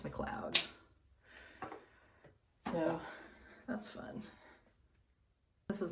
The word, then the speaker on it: McLeod: I recently learned it's spelled like McLeod, which, an American person would be like, oh, McLeod, but no, it's McLeod.